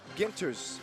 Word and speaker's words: Ginters: He's like, "It's ginters, like in the word guitar."